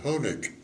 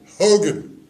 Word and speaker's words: Honig: And instead of saying Honig, he would say Hogan.